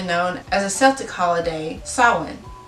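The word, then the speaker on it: Samhain: halloween was formerly known as a celtic holiday salon it's spelled differently i know but just go with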